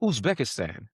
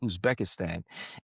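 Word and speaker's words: Uzbekistan: I was going to say, can you pronounce that again where you were stationed? Oh, Usbekistsan.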